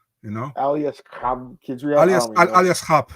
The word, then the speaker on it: Aliaskhab Khizriev: I say Aliaskhab Khizriev. Okay, so I had it right. Okay, good. Thank God. I think if you have the K and the H, you have to say, you know, Aliaskhab Khizriev.